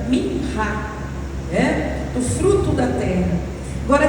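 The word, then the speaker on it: מנחה: É uma oferta que, se a gente transliterar do hebraico, a gente vai pronunciar como minhá, do fruto da terra.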